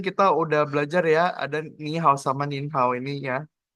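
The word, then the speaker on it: 你好: Contoh, ni kan artinya awalnya awalnya kan nada ketiga karena ketemu hao yang nada ketiga juga. Nada ketiga ini dia berubah jadi nada kedua. Jadi ni hao.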